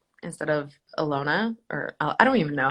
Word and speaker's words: Ilona: what do they say iliana but the problem is is the capital i looks like an l so it looks like lelona instead of alona or i don't even